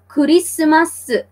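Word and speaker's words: クリスマス: okay so I hope you got that right kurisumasu you have lovely expressions love lying expressions what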